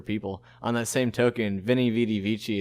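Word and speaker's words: Veni, vidi, vici: On that same token, Veni Vidi Vici is actually pronounced, because V's were W's back then. So Veni Vidi Vici, the famous I came, I saw, I conquered, was actually pronounced Weni Weedy Wiki.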